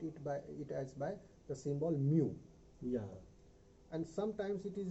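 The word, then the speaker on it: μ: If we want to calculate arithmetic mean of population, then mu, it is a Greek letter pronounced as mu, which is equal to sigma x upon capital N.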